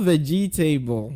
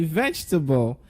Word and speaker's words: vegetable: Not vegetable, like we used to saying. So when mommy tells you, go to the market to get me vegetable, you say, no, no, no, no. Please say vegetable. So can I hear you say vegetable? Yes, it's pronounced as vegetable, okay? Vegetable is the pronunciation of the word.